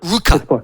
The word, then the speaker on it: Ruka: to you sorry mate have I got your pronunciation of your s name right rer Ruka yeah Ruka Ruka my apologies Ruka okay a long you